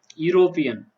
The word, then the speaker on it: European: European. Letter is vowel, but the sound is consonant.